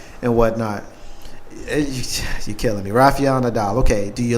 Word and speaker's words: Rafael Nadal: Rafael Nadal. She said it right too, with the correct. Rafael Nadal. She said it with the correct pronunciation and the enunciation.